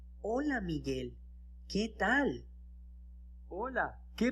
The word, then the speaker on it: hola: student, you remember that the letter H is silent, it's mute. In other words, it doesn't have a sound. Okay? It's just there. So you don't say hasta or you don't say hola. You say hasta, hola.